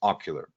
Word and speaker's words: Ocqlar: for life right so allow me to introduce ocular right it's it says ocqlr it's uh pronounced ocular so it's the best animated video maker that